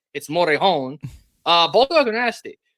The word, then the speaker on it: Morejon: It's not John or whatever the hell it's Morejon.